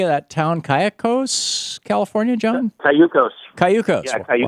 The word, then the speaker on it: Cayucos: Cayucos, California, John?